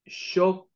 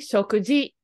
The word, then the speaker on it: 食事: He didn't say arete koi shokukoto. It's actually shokuji.